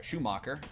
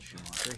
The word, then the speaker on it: Schumacher: He's he was Schoeacher. I just totally skipped a entire syllable of his name. Michael Schumacher.